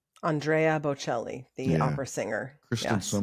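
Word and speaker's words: Andrea Bocelli: You know who Andrea Belli is? Andrea Bochelli, the opera singer. Kristen's so much better at pronunciation than I am.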